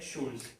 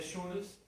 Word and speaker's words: joule: a la menos 15 Jules sí la unidad se dice Jules se escribe joule sí